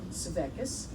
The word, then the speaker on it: Svekis: Our next reader is Sherry Robinson Sevecus. Did I pronounce that correctly?